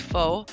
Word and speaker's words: Pho: His alias is spelled Pho, but it's pronounced Fo.